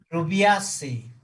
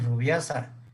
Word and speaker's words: Rubiaceae: Rubiaceae. La pronunciación es muy importante en taxonomía porque les dan una plática y dicen rubiasa, los tachan de mal, ¿va?